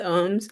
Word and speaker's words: ohm: Yeah, so it's pronounced ohms, everyone.